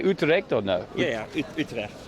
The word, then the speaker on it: Utrecht: Yeah, Utrecht. Utrecht.